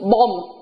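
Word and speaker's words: bomb: Trong một số từ, ví dụ như từ bom, bom, chúng ta có chữ bờ cuối đúng không ạ? Nhưng mà chúng ta không phải đọc chữ bờ này, mà chúng ta chỉ đọc là bom, bom.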